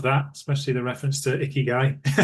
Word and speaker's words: Ikigai: Love that, especially the reference to Ikigai. It's something that You pronounced it right.